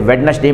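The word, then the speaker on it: Wednesday: भाई ये साइलेंट है जैसे वेडनेसडे में वेडनेसडे हम लोग कहते हैं तो दी साइलेंट होता है एडजेक्टिव में के साइलेंट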